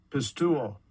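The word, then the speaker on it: πιστεύω: And let's see how that is actually pronounced. Strong's G 4100. Pistuo.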